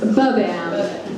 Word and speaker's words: BBam: It's just so, BBam. Is it like the accent is on the first beat?